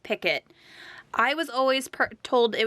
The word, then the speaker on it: picot: so many ways so google says it's pronounced picket i was always told it was pronounced picat which sounds silly now